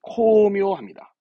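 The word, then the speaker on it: 巧妙: 공교로울 교짜인데 이게 그겁니다 교묘한 발음은 코묘합니다 교묘한 코미오다 코미오다 교묘한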